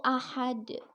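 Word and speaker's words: أَحَد: Nah, asalnya ini juga ahadun dibacanya. Karena diwakafkan, jadi bunyinya ahad.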